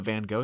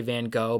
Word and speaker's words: Van Gogh: up top i think there's some dispute as to how his name is pronounced i think in america we say van gogh but i think it's actually more like van gogh um just a little